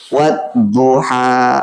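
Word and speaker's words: والضحى: Kalau al-samsiyah berarti huruf al tidak dibaca. Langsung wawunya masuk ke huruf dot. Wadduha.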